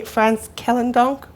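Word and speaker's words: Frans Kellendonk: number of prizes some of which I can't pronounce because I'm ignorant of the Dutch language or one is the France kellan donk prize yes that's correctly and something called the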